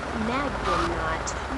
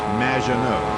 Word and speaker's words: Maginot: Magnaut. Welcome to the show. Thanks, Amy. However, you have mispronounced my name. It's Madge, which rhymes with badge, as in duh, and no as in more than you. Maginot.